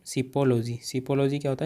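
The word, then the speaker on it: psephology: उसे बोलते हैं शिपोलॉजी। दोस्तों पी साइलेंट रहेगा यहाँ, शिपोलॉजी।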